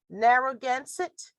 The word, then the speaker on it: Narragansett: native americans there and the name and let's pronounce this right narragansett s i t refers to both the people